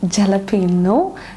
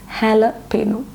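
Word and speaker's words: jalapeño: It is actually jalapeno. It is not jalapeno, it is jalapeno.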